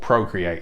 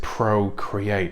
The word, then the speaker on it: Procreate: through a program called procreate it's very much like um i suppose i should pronounce it pro create not procreate um it's very much